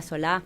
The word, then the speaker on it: Solá: Y en realidad venimos, me imagino, del mismo lado, será el mismo apellido, Sola, Solá. Pero Solá sí lleva tilde, ¿eh?